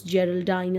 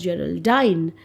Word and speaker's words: Geraldine: name is Geraldine now although many of us we pronounce Geraldine as Geraldine looking at the previous line I think we should stick to pronouncing it as general Dyne which would rhyme with line okay so it's a